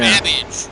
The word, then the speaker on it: Babbage: babbage, which is something that rhymes with cabbage.